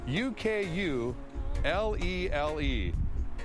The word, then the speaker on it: ukulele: the day which is ukulele yep let me spell it for you and I'm looking off the screen trust me uku l-e-l-e ukulele okay that's the code word of the